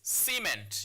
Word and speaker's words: cement: When you pronounce that word as a noun, it's pronounced as cement. Now, the word cement here has two syllables. Now, so it's C then ment. So it's cement. You don't say cement, it's cement.